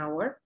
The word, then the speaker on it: hour: En la primera, en el primer ejemplo, la letra H no se pronuncia, entonces decimos an hour, a pesar de que empieza con una consonante.